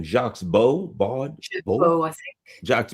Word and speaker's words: Baud: Jaques Baud, Baud, I think. Jaques Baud. Okay, because in the Baud, U.S. we would be B-A-U-D would be pronounced Baud here.